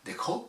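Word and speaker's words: Deqo: Ça s'écrit D-E-Q-O, et ça se dit donc Dekho, voilà, je suis obligé de me reprendre.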